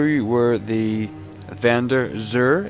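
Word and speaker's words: Xûr: where the van der zur is hiding that's the correct pronunciation x you are um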